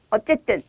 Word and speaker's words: 어쨌든: 아무튼, 어쨌든, 하여튼 이렇게 발음을 하는데요.